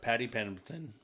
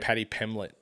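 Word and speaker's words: Paddy Pimblett: And what we're talking about is Patty Pemberton, right? Did I say it right? Patty Pimlet.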